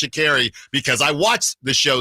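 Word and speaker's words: Sha'Carri: Sprint on Netflix so shakeri and it is pronounced shakeri because I watched the show Sprint and that's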